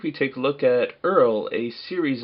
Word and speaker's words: URL: figures in this series Earl pronounced Earl is an acronym for the Uniform Resource locator and as a peace